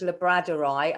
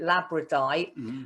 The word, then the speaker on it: labradorite: see is my i i pronounce this labradorite i think in america they call it labradite but it's a beautiful